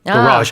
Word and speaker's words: garage: how you say uh, garage, I guess. Garage is is how you say it. You say garage. Garage. So, the the stress is on the second syllable for American English.